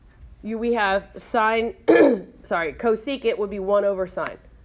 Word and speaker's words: cosecant: you look the reciprocal function of sine is cosecant is how you say that you have to